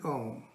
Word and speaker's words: Om: As a first step, you can start by chanting Om, pronounced by Om, O-M, Om, it's the same thing.